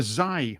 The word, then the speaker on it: Xi: we should use maybe should be a z or a Zai man because it's spelled XI H do you know do